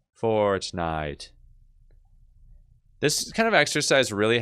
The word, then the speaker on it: Fortnite: Okay, beginning of it, no diphthong here. Fortnite.